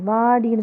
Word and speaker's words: வடி: வாடின்னு சொல்லக்கூடாது. வானா இல்லை, வடி. வடி. குறில் எழுத்துண்டா மெல்லமாக உச்சரிக்கணும்.